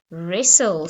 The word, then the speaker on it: wrestle: to write a story the doing word right wrestle so wrestling is a sport or a wrestler